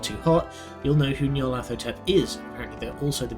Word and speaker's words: Nyarlathotep: There's no official way to pronounce that name since it's a made-up nonsense word, but I prefer Nyarlathotep. Whatever, say it however you want.